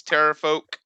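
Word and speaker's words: pterafolk: at one of these terror folk Petra foe better for ya Tara Tara is because the P is silent like pterodactyl yep and I'll give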